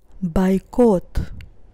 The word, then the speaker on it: бойкот: is the first instance the first o is not stressed that's why i pronounce it as a and the second o is stressed and that's why i pronounce it as o girlfriend girlfriend dj dj